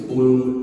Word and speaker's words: Blum: My understanding is it's Blum and Sabat. Yes. Sabat. I actually have a joke with Steve where I always call him Mr. Blum, and he calls me Mr.